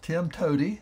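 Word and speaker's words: TIMTOWTDI: o wtdi uh pronounced Tim Toady sounds like it could be a character in Lord of the Rings but it is an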